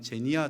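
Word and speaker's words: ξενία: 크세니아입니다. 크세니아. 혹시 영어로 발음한다면 제니아 정도 될 것입니다.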